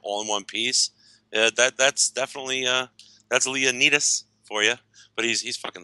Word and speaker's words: Leonidas: It's pronounced Leonidas.